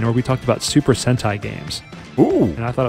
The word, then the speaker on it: Sentai: it's Super Sentai, pronounced Sentai.